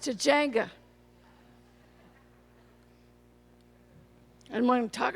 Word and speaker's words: Tujunga: I'm a grateful, delighted alcoholic from Tujunga, which is sometimes pronounced Tujunga.